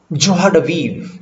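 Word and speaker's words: joie de vivre: Pronounced something like जोहाडवीव, जोहाडवीव, जोहाडवीव, जोहाडवीव, ऐसे करके pronunciation में बोलना है। एस जो होता है वो थोड़ा सा ज वाली साउंड देता है।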